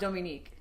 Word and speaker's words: Dominique: It's Dominique. See, and I say Domi, I'm very white. Because the name is actually pronounced Dominique.